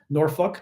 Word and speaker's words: Norfolk: you just think the town yeah buoy exactly norfol took me forever to figure out how to pronounce norfol n o r fol k because